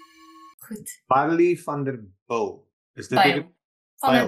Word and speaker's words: Bijl: Ja, soos van der Byl Park. Of course. Hoekom Jy bly te lank in Australië. te lank oor sê, ek pronounce dit soos dit lyk, jy weet, is Ja, en die probleem is wat Aussies ook doen. So, ja, dis soos van der Byl Park, is maar dieselfde.